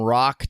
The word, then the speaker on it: Roch: Oh, the C is silent. Adam Sandler all over, man. I like it. Alrighty, so we're going to call him Roch Theriault just because I